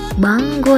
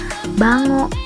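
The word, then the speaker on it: 番号: gitu Oh ya catatan jadwal bank ia menyebutnya banggo ya and sama guenya agak dibacanya engkau tapi bukan bacanya Bango bukan bukan kecap Bango ya tapi banggo jadi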